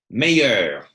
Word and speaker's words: meilleur: How was this pronounced again? Meilleur. Meilleur. Meilleur. And we hear the R, that little bit of a...